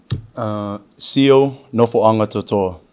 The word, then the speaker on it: Nofoagatoto'a: Nofoagatoto'a. I've been pronouncing it wrong.